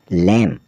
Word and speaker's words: lamb: और LAMB लैम, लैम का अर्थ होता है भेड़ का बच्चा।